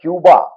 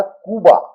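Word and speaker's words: Cuba: तो स्पेनिश जो भाषा है उसमें क उच्चारण जब हम करते हैं क्यूबा वो वो स्वर नहीं होता। वो ध्वनि नहीं होती। इसलिए उसका जो सही उच्चारण है वह है कुबा। तो इसको कुबा ही कहा जाता है।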